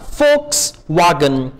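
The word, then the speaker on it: Volkswagen: वी से, वी को German में हम प्रोनाउंस करते हैं एफ, तो ये होगा फोक्सवागन।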